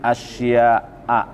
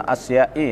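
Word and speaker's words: أشياءَ: Wajadtu halawatal ibadati fi arba'ati asya'a. Nah, asya'a juga tidak bisa dibaca asya'i ya. Asya'a dibacanya.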